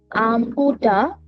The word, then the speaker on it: au revoir: au revoir au revoir revoir au revoir See you later. au au au re au re voir au re voir au revoir